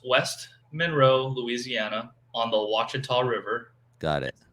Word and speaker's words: Ouachita: monroe louisiana on the ouachita river got it it looks like it's spelled like a wichita yeah i was like um i'm fishing this place called wichita he's like that's a wachita son i'm like oh